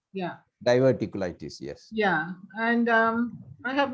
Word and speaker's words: diverticulitis: diverticulitis.